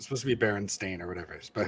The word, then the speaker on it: Berenstain: Berenstain. Exactly. We don't even know. Steen is the Mandela effect. That never existed. Yeah, it's supposed to be Berenstain or whatever it is, but who knows?